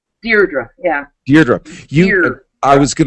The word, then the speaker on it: Deirdre: You, as the grandniece of Al Capone, Deirdre, do you pronounce it Deirdre? Deirdre, yeah.